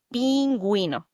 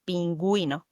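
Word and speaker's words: pingüino: And when you see an U with dots on top of it, you got to pronounce it like pinguino. Pronounce the U. Penuino.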